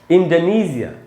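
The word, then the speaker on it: Indonesia: तो दोस्तों इसका जो ब्रिटिश उच्चारण है वो है इंडोनेशिया, इंडोनेशिया।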